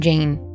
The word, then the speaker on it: Jane: What sounds are in the name Jane? J, A, N, right? Only three sounds. In English, the final E is not pronounced, it's silent. So there's no reason to